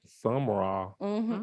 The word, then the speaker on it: Sumrall: And life growing up, I grew up in South Mississippi in this little town called Sumrall, Mississippi. Who? Sumrall. Sumrall. Some is spelled Sumrall.